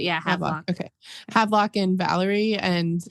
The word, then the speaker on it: Valerie: That's how they pronounce it. Yeah, Havelock. Okay. Havelock and Valerie, and it's Valerie.